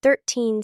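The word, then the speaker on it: thirteen: 30 and 13 sound similar. Be careful. 30 has stress on the first part. 13 has stress on the second part.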